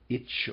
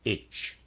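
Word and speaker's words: Etsch: must use the expression itch. Sorry, readers aside, I think I was pronouncing that slightly wrong. It's spelled E-T-S-C-H. I believe he means me to pronounce that H.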